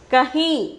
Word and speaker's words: कहीं: Kahi. The pronunciation is kahi.